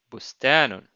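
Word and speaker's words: بستان: And note that the letter ba here is associated to the dhamma. That's why we pronounce bu, bustanun.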